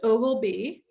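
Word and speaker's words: Oglebay: about ogilvy um yes it is pronounced ogilbee even though it's spelled ogle bay um ogilby resort festival of lights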